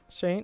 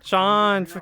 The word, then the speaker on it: Sean: Or Shane? No, Sheen. Sean? Sean, that's how you say it.